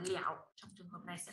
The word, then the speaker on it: 了: Thì chỗ này mình không đọc là lơ nữa, mình đọc là lẻo.